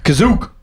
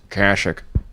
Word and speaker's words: Kashyyyk: Kerner says you mispronounced Kashyyyk. No, Kerner. Kazook. It's called Kazook. I'm calling it Kazook forever. Kerner, you just say it like someone from the land. Kashyyyk.